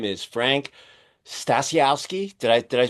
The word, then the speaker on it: Stasiowski: since the beginning and his name is Frank stasiowski did I did I pronounce it right Frank was I close Perfect